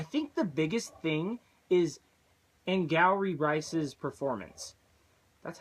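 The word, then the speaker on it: Angourie: engrossed surprisingly I think the biggest thing is in gallery Bryce's performance that's how you say it I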